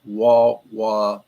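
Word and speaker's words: Wah Wah: The green-yellow type of beryl occurs only in the ruby-violet claims of the Wah-Wah Mountains of Utah.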